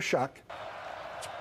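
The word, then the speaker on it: Shough: Tyler Shock. It's spelled S H O U G H. So don't look Don't be fooled. There's no Tyler. Don't spell it phonetically.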